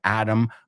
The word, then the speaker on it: atom: Atom bomb. Now, again, the British would say Adam and atom. But Americans, it sounds exactly the same.